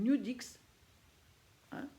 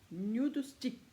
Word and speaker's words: Nudestix: une marque est arrivé en france qui s'appelle nude x1 nude stick pardon mystique que je prononce bien ça se présente dans décédé alors